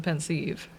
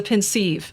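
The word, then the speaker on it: Pensieve: out please nice a pensive I just know me a basin that is offensive for viewing memories no it's a pin sieve say it right say it the way I say it thank you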